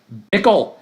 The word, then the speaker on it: Bickle: any of those things is his last name Bickle Travis Bickle which of course rhymes with waffle no pickle pickle let's find out who